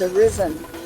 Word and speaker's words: Arisen: You could not say my name for anything. It's Arisen.